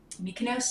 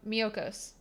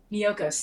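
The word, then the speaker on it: Miyoko's: like earth tree um mykonos is that how you say it weakness um miyokos miyokos thank you that one that that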